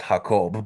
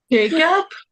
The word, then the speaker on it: Jacob: Tony in Spanish is pronounced Hakob, but in English it's pronounced Jacob.